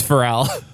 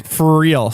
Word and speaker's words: Farrell: like the comedian, man. Farrell.